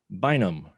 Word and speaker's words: Bynum: And the star of Panda Barrett, Damien Elliott Bynum.